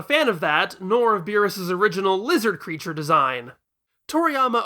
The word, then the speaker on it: Beerus: Therefore he named him after the Japanese approximation of the German pronunciation of virus beerus.